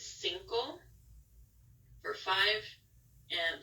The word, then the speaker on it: cinco: the end oh it's Cinco for five and this is an example of how the C can be pronounced as an S and Decay so we